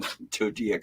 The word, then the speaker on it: Tudyk: Oliver Platt or Alan Tudyk? Oliver Platt, I don't know. I'm not a big fan of Oliver Platt. I can handle him. Don't like Alan Tudyk or however that's pronounced. Well, it's Tudyk.